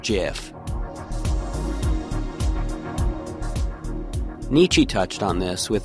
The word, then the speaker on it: GIF: over and over that it's actually pronounced jiff Nietzsche touched on this